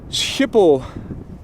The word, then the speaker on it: Schiphol: You guys have a soft G. Schiphol is probably more how you guys pronounce it.